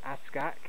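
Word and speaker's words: Ask Aak: So it's spelled A-S-S-A-S-K, sorry, A-A-K, Ask-Ak.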